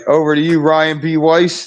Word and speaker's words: Ryan B. Weiss: All right, over to you, Ryan B. Weiss. The B is silent. Ryan B. Weiss.